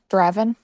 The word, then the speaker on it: Draven: myself I am Moon driven so uh I a character I mispronounced it it would be pronounced Draven yeah for whatever reason